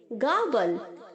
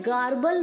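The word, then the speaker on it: garble: ये सेम वैसे ही साउंड करेगा जैसे हमने गागल में प्रोनाउंस किया था। ओके, हाफ आर की तरह, पूरा आर नहीं बोलना है, गार्बल नहीं बोलना है, गाबल। ओके, हल्का सा आर साउंड होना चाहिए।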